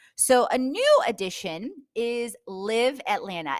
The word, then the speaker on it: LIIV: So, a new addition is Live Atlanta, and that's spelled LIIV Atlanta.